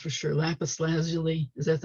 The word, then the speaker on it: lapis lazuli: that's made from i don't know how it's pronounced for sure lapis lazuli is that's how it's pronounced yeah yeah so